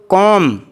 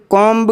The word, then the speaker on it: comb: इसी तरह कॉम, COMB, जिसमें भी साइलेंट रहता है, पढ़ा नहीं जाता, उसका तलफ़्फ़ुज़ कॉम्ब कर देते हैं।